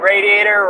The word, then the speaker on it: radiator: Chrissy says, that's how you say it in Pittsburgh, and radiator rhymes with gladiator.